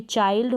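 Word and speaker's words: child: है, तो यहाँ पर हम आई को आई प्रोनाउंस करेंगे। जैसे माइल्ड हो गया, ये चाइल्ड हो गया, ये काइंड हो गया और ये माइंड हो गया।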